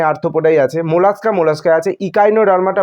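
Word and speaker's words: Echinodermata: আছে mollusca mollusca আছে ইকাইনোডার্মাটা বলছি কারণ এখানে ই আছে কিন্তু এখানে বাংলা মিডিয়াম বলছে একাইনোডার্মাটা কোন প্রবলেম নেই তুমি যেভাবেই বলো বাংলা বললে বাংলার মতন উচ্চারণ করো ইংরেজিতে বলা ভালো কারণ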